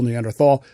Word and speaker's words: Neanderthal: um i'm i'm look there's two correct pronunciations of the word neanderthal neanderthal i prefer tall it's just as i'm going to say later i'm not an anthropologist i don't care i pronounce it neanderthal if that bothers you